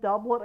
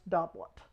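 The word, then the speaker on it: doublet: Uh you'll hear people say both dublet and dubé. I looked it up. It is not French. It is Spanish and it is pronounced dublet.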